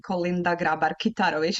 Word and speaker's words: Kolinda Grabar-Kitarović: So I was there with the Albanian ambassador, and my name, Kolinda Grabar-Kitarović, is very complicated. So a lot of people mispronounce it.